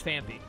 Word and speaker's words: Phanpy: Fanti phanpy I used to always call it fancy and then people told me it's actually pronounced phanpy like a ton of people told me that